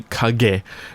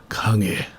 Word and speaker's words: 影: So it's not really Kage, it's more Kage. It's a very soft G. It happens in the back. It doesn't go G, it goes Ng.